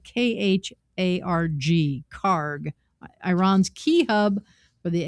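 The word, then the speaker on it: Kharg: The first would entail seizing or blockading the Karg Island, and it's spelled K-H-A-R-G, Karg, Iran's key hub for the export of oil.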